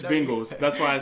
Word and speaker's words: Bengals: the bengals there the bangle sir oh anyway yeah say it right but it's not b-a-n-g it's bengals that's why i say